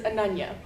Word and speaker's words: Ananya: Again, my name is Ananya. Yes, I have a name that is easy to mispronounce, and as you can imagine, I've been in many situations similar to the one at Pyro's.